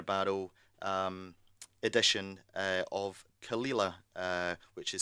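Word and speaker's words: Caol Ila: dougas laying Premier barel um Edition uh of khila uh which is spelled c a o l i l took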